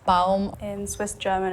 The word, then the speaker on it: Baum: A lot of dialects or Dutch, they kind of swallow some of the vowels sometimes, like it's baum, baum. But in German, you pronounce every letter. Baum, baum.